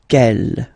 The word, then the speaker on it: quelle: Quelle, masculine form here, will be pronounced exactly as the feminine form here. Quelle. So only one sound, okay?